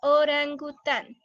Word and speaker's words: orangután: Entonces tenemos la palabra orangután. La sílaba tónica, que es la más fuerte, es tan. Orangután.